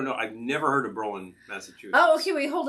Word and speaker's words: Berlin: Okay, so the pronunciation is Berlin, like the German city.